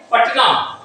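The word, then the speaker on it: Patna: हम पटना कहते हैं चूंकि टी के साथ वाले आपका उच्चारण नहीं होता इसीलिए हम यहां तब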